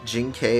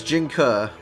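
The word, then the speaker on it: Jing Ke: resources towards maximizing defenses am I the wrong for pronouncing it Jing K as well you're both stupid gig Chad it's Jinga it's Jinga not Jing K we're all stupid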